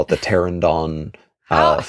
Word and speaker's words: Pteranodon: to the as Demi would call it, the Pteranodon flyers.